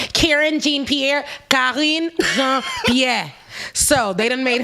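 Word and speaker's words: Karine Jean-Pierre: which was calling jean-pierre if you guys want to know the pronunciation i know a lot of people are karen jean-pierre yeah so they didn't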